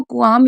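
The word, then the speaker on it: qualm: बाद है कुआम इसको कुआम इसलिए पढ़ रहे हैं क्योंकि एल साइलेंट है एल के बाद एम होता है तो एल साइलेंट होता है और क्यू यू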